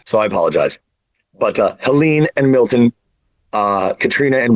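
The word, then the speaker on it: Helene: because then oh yeah true alen that's Helen to me if it's French it's Helen but this is where I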